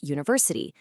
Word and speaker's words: university: So we say an hour and the reverse is true for a word like university. That u actually makes a y sound which is a consonant.